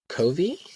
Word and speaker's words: Covey: And I'm gonna mess his last name up unless you know it, but I think it's pronounced Covey.